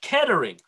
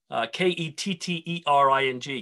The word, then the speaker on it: Kettering: the heart of england at a place called kettering k-e-t-t-e-r-i-n-g kettering and kettering was a town of about